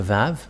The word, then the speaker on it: Vav: So here is the letter Vav. The Vav. And this is the letter Vav. This is the Vav. The way to read this is V as in Vag.